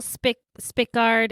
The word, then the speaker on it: Spickard: historian and race migration and identity expert Paul Spickard or Spikard. I'm not quite sure how you say his name. Paul Spikard. It's spelled S P I C K A R D.